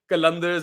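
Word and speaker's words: Qalandars: Kalandars is also kind of pronounced with a K, but Quetta is like Q.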